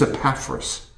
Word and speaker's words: Epaphras: And maybe you don't even know how to pronounce this guy's name. His name is Epaphras.